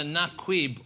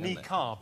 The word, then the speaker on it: niqab: But we also put, we think it's either Naquib or Nakid. It's something like that. It's like a Naquib or something. Niqab is how it's pronounced.